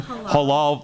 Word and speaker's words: halal: Halal.